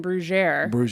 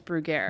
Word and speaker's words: Bruggere: mask this is everybody pronounces my last name brugier they pronounce the French way and I correct them and I say no this is America and it's brugaire but if you if you if brugaire if